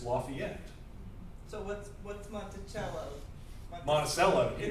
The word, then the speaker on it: Lafayette: If you're from here, you'll also know that the county to the south of us, whose county seat is Mayo, Lafayette. is Lafayette or Lafayette, even though it's named after the Marquis de Lafayette.